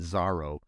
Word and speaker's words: Zoro: name and uh or Zoro but they pronounced it zaro but it's it's spelled Zoro like the like the